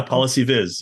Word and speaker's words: PolicyViz: Do you pronounce it Policy Viz? Yeah, Policy Viz. Yeah, maybe a little more American English than British English.